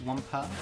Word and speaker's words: Wampa: Okay, so what should be the motif for like Wamba fruit? How do you imagine that going? The motif for what? Wamba fruit? Is that how that is pronounced? It's with it's Wampa. Wampa. Sorry, Wampa fruit.